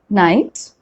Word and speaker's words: knight: so that's the rule k is generally not pronounced when it comes before n at the beginning of a word will you remember that